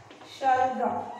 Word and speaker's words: शलगम: शलगम देखिए, शलगम का इस श का उच्चारण मैं किस तरह से कर रही हूँ, शल शलगम।